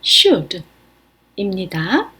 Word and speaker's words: should: 해야 한다 should 입니다 중간에 철자 L이 발음이 안 나서 발음은 슈입니다 우리말로는 해야 한다라고 하면은